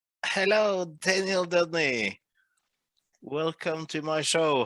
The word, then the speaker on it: Deudney: So my name is pronounced Deudney, as in hey dude, and knee as in leg joint. Deudney.